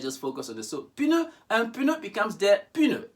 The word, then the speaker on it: pneu: Now, in French, words that end in PN, you pronounce the P like in English, P, pneu, pneu. Whereas in English, we forget about the P and focus on the N, like in pneumonia.